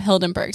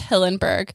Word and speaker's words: Hillenberg: actually against hildenberg's hilton i keep wanting to call him hildenberg's his name is hillenberg maybe i'll just call